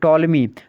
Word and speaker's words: टॉलमी: है वह जो है टो लिमिट यहां पर पीस जो साइलेंट है इसलिए इसको अनइंस्टॉल में पढ़ते हैं यह प्रॉब्लम पेट्रोल में लिखा हुआ है लेकिन यहां पर आप इसको टॉमी पड़ेगा चुप्पी साइलेंट तो टॉलमी इन थे